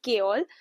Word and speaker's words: Chaol: In the audio book, the narrator is pronouncing it as Kol.